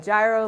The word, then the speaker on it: gyro: I'm teaching you how to make gyro meat today. Some people call it gyro, like up in New York where my hometown is, but traditionally it's called gyro. That's the proper way to say this.